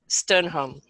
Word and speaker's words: Stjernholm: background, sorry, is Duane Stjernholm. He actually has a Danish name, but we're not pronouncing the J, so no offense to any Danish people out there.